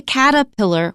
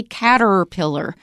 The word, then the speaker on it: caterpillar: we noted that if there are 2 R's in a word separated from each other, we often don't pronounce the first one. For example, surprise. We don't usually say surprise. We say surprise. And we usually say caterpillar. We don't say caterpillar.